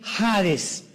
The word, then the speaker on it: Hades: la palabra seol con hades, con h, que muchos dicen jades. Se puede pronunciar así porque es en el griego.